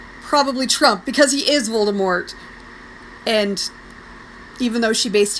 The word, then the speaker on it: Voldemort: doesn't like Harry Potter I'll tell you who Voldemort that's who and obvious all due respect Miz Rowling if you ever see this I'm still calling him Voldemort because you don't get to change the pronunciation